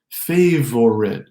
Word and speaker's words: favorite: Favorite becomes favorite.